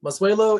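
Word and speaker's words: Mazuelo: so it is what is it ten percent mozzuelo um masuelo is the spanish name for karen yon which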